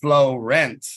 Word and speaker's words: Florent: he's working with Florent floret Florent I don't know how to say his name you probably know I'm gonna unmute you he said flow rent like flow and rent FL rent I am a queen